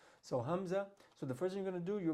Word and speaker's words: hamza: And the makhraj of hamza, the point of articulation, is the throat. So at the bottom of the throat. All right. So that same sound that we make when we pronounce the word the word apple. We say apple.